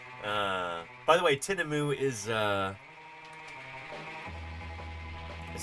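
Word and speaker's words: tinamou: prepared for the tineu. I'm sorry, Rogues. Uh, by the way, tinamu is uh is spelled with a U at the end.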